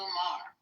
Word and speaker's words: Maher: I see Wayne Brady went after Bill Moyer. How do you say his name? Moyer? Saying that he's a racist. Bill Maher.